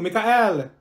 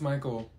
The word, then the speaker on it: Michael: mean Beatrice thank you Mikhail ma'am it's Michael okay what about slow